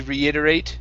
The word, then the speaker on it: reiterate: end here you guys this is incorrect it should be reiterate okay because we have the preposition here okay to reiterate try that to reiterate watch your r's to reiterate to reiterate okay now after after that t push that push your your tongue down for the r to reiter to reiterate